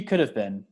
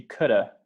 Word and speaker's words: could have: read it that way they'll say she could have been she could have been in an accident could have or maybe if they're really lazy she coulda she could have been